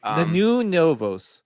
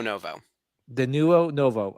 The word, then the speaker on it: Denuo Novo: name of dinuo Novo the new novos okay no there's no s it's Novo the nuo novo okay yeah it does